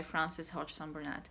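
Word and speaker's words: Frances Hodgson Burnett: loving it and that's a little princess by francis hodgson burnett yes i said it right the first time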